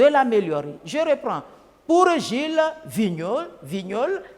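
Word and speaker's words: Vigneault: communique c'est à travers le message pour Gilles Vignols tous les poètes sont engagés ils doivent être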